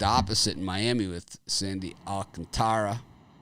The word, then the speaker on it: Alcantara: in miami with sandy alcantara romano pronounces pronounce it alcantra but there's an a after oh i thought it was alcantara no it's all contra but there is an a after the t after that i've been